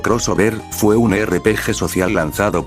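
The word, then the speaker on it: Xover: Mega Man Shover, pronunciado crossover, fue un RPG social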